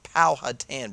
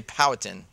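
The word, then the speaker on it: Powhatan: know about powatan and it is powatan Bruce don't don't say powan people get really mad some people say pal poh hatan correct you can't say it wrong because you will get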